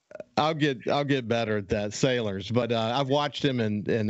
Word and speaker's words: Salers: I'm glad to have my friend, multimedia journalist from SuperTalk Mississippi News, Caleb Sellers. And Caleb, you're doing a good job. Am I pronouncing your last name correctly? Sailors.